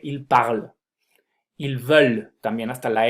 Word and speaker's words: ils veulent: Esa ENT que existe cuando conjugamos los verbos con ellos y ellas, esa ENT no me la pronuncian.